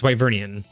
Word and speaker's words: Wyvernian: Because there's no final N. So there's no N at the end, but they have the N sound at the end. So it's like Wyveria, but it's a Wyverian.